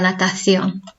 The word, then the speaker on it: natación: And we pronounce it la natación in Spanish. La natación. The accent is on the O there because that's where we put the emphasis.